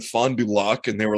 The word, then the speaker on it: Fond du Lac: __ ] because i because when i said fond du lac and they were like right i was like